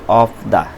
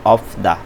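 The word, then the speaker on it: 없다: আর এখানে আছে অফ দা নাই। বিউপ আর শিউত জোড়া বাচ্চিম, এখানে বিউপের উচ্চারণটা হবে, শিউতের উচ্চারণ হবে না, তাহলে উচ্চারণ হবে অফ দা নাই।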